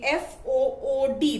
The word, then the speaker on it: food: shot ooh so remember f o o d is pronounced as food the long u sound but f o o